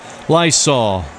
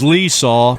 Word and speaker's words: Liesaw: And now the Pinstripers will send up Steve Lysol. I hope I thought maybe it was Leesaw, but it's spelled Liesaw like the air freshener.